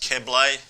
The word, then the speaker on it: Keble: And just so you know, it's pronounced Keble, Clint Keble, Paul.